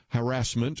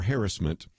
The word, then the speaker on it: harassment: Accent on the first syllable, not the second. Never mind what they say on TV.